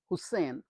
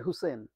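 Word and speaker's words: Hussain: হোসেন নয়, জাকির, জাকির হোসেন, জেড। আমাদের আমেরিকাতে এখানে বলে জি, কিন্তু আমাদের দেশে বলে জেড, আমি জেডই বলছি। জেড এ কে আই আর, জাকির হুসেন। জাকির হোসেন নয়, হুসেন, হুসেন।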